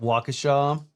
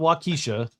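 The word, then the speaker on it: Waukesha: Call it Wakaasha. It is Wacaaw. It's not Wisha.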